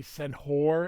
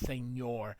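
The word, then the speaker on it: señor: be worried about um here you say senor it's not Senor it's seor they unfortunately that's not how it's spelled either that's just anglicized so um and then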